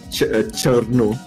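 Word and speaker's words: Cirno: Chiru. How do you pronounce that? Cherno. Cherno. How is that Cherno?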